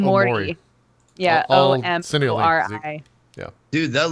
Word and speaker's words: Omori: It's called Omori.